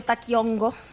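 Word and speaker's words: Taqui Onqoy: En todo caso, el Taquiongói o Taquiongo, que sería más bien como la pronunciación específica del quechua y más bien hacia el aymara, va a ser, por un lado, una suerte de enfermedades.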